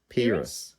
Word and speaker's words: Peiris: By the way, it's like penis but with an R. So Peiris.